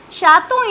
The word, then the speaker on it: chaton: Next word is chaton. Chaton is baby cat. Again we have vowel after T, so it will be pronounced. So the meaning is chaton.